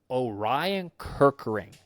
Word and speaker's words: Orion Kerkering: We already kind of went over him, and Orion Kerkering. Is Did I pronounce that right, Ken?